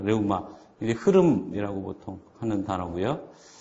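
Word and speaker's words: ῥεῦμα: 그 다음에 레우마. 역시 이제 로가 맨 앞에 나왔죠. 그래서 강하게 숨을 내쉬는 발음의 레와 뭐 해 중간. 그래서 불어 비슷한 그 발음 나올 겁니다. 레우마.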